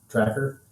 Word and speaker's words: TRAKR: Store once it's ready it's spelled t-r-a-k-r tracker and then the website